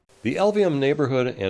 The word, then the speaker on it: Elvehjem: mouthful of marbles so just remember these three letters L V and M the LVM neighborhood in its elementary